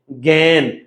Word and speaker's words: জ্ঞান: যেমন জ্ঞান, জ্ঞান, গান হবে না, জ্ঞান।